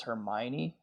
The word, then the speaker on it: Hermione: His friend that's a girl is Hermione, I think. Is that how you say it? Good pronunciation.